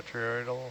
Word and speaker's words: botryoidal: botryoidal.